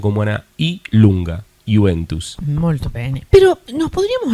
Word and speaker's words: Juventus: Por eso se escribe Juventus con J, pero normalmente no se pronuncia como una I lunga, Juventus.